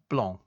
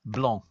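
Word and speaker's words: blanc: C in Sor uh blong it's a French word and the C is silent well it's I mean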